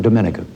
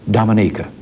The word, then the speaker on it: Dominica: Prime Minister Eugenia Charles of Dominica. I call that wrong. She pronounces it Dominica.